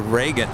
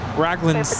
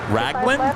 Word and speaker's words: Raglan: up I think those shirts are called the Reagan Reagan Regan Reagan they're like the they look like long sleeve oh different color I don't know why I've always called those baseball shirts yes raglan's the Raglan Raglan oh that's how you pronounce it I